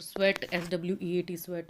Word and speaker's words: sweat: इसको स्वीट नहीं बोलेंगे, स्वीट की स्पेलिंग SWEET, स्वीट होती है मिठाई, और स्वेट SWEAT, स्वेट होता है पसीना।